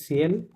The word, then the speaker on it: ciel: Low, sell what is সিএল? সিএল মানে সিএল স্কাই, সিএল means sky স্কাই, হ্যাঁ, ওকে বলে সিএল, এখানে এলটা সহ উচ্চারণ হবে, লো সিএল, ম্যাসকুলিন ওয়ার্ড।